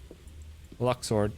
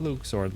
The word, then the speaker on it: Luxord: Luxord, not Luxord like you like to pronounce it. It's Luxord.